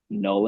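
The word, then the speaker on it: Knull: Um, so our track Null and Void is spelled K N U L L like Null, the god of the symbiot.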